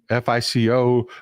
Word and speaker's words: Fico: His last name is spelled Fico, F-I-C-O, but it's pronounced Fico, like feces.